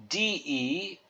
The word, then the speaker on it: de: a more Amore then the next word is De and you can pronounce that de so think of e as in deck neck or heck so here's a context